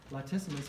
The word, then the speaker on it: latissimus: flexor pectoralis major oversee latissimus you pronounced it exactly right it's this one this